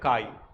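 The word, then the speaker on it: χ: एक्स जैसा लिखा जाता है लेकिन इनका प्रोनाउंसिएशन होता है काई। इट इज रिप्रेजेंटेड बाय काई। एक्स नहीं बोलोगे, इसको बोलेंगे तो हम लोग काई बोलेंगे।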